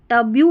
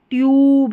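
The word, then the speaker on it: tube: अब देखिए TUB क्या होता है? टब, और TUB के बाद में ई लग गया ना तो इसको क्या बनेंगे? टब्यू बोलेंगे? नहीं, ट्यूब, यानी यू का उच्चारण यू हो जाएगा। ये जो यू है ना इसका उच्चारण यू, ई लगते ही।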